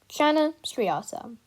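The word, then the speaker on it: Channa striata: striped snakehead scientific name chana sryasa pronunciation shanna striata size usually to 60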